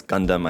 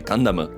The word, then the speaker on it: Gundam: Everybody knows here in the English-speaking community, it's Gundam. I think that's a pretty well-established pronunciation for that word, Gundam. But like I said before, if you actually read the katakana pronunciation for it, it's actually Gundam.